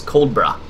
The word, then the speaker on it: Coldborough: Depending on the exact region of UK accent, you can really de-emphasize the second syllable, so it's almost becomes Coldborough.